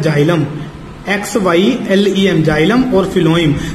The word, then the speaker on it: xylem: ये मैं दिखा देता हूं स्पेलिंग आपको। एक होता है फिलोइम, एक होता है जाइलम।